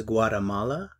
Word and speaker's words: Guatemala: Is Guatemala a country? En español se pronuncia Guatemala, pero en inglés Guatemala, Guatemala, Guatemala, Guatemala.